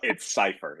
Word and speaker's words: Cipher: Yeah, but it's Cipher is how you do it.